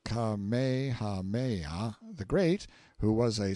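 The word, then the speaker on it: Kamehameha: When Kamehahha, pronounced Kamehaha the Great, who was a sort of a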